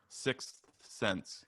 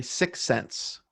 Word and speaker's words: sixth sense: all right good um sixth sense is hard for me to say i know i totally agree and when i was recording the cold open i had to redo that several times sixth sense so i think i usually say six cents six cents yeah the